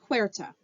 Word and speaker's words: Huerta: by a guy, Victoriano Huerta. That may not be how you say his first name. That is how you say his last name, though.